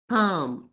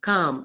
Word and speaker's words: calm: rule won't apply that whenever there is an L before the letter M in a word then L becomes silent in that word is this clear which is calm calm can you think of